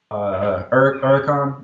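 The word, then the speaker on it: Huracán: um yeah so I have a 2017 uh uron that's how it's pronounced um and it's a spider so it's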